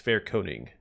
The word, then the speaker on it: Fairkoning: I think it's Fairkoning. Yeah, that's right.